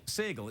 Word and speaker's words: Sagal: I can never say his name properly. Sagal, it's Sagal, isn't it?